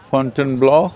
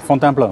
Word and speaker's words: Fontainebleau: Tomorrow morning I'm leaving for Fontainebleau, is that it? How do you say that? Fontainebleau, yeah. Fontainebleau.